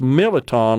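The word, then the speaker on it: mirliton: But they was always pronounced militon. Like the R is kind of silent.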